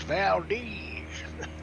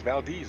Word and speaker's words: Valdez: Down here, a person's last name, V-A-L-D-E. It's Z is Valdez. Up in Alaska, it's Valdez. Valdez, I know how to pronounce. Yeah, it's Valdez up there.